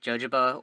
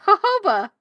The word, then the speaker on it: jojoba: stuff for my skin is it jojoba or hoba I just been pronouncing it jojoba because it it comes from Africa not from Central America right so I've just been pronouncing the Jays as Jays all right we have the luxury of Google in front of us hold on I'm I'm Googling it already it's hoba hoba thank you Karen thank